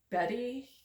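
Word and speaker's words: Beate: that's what it says here Evelyn Hedy burkart Betty it's spelled be a t hilbig and beatric Simon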